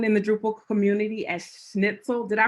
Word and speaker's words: Schnitzel: his he's known in the drupal community as schnitzel did i pronounce that correctly that's correct yes okay um